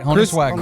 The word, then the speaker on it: Honus Wagner: Ty Cobb, Babe Ruth, Honus Wagner. Probably said that wrong. Oh, you said it right. Honus Wagner.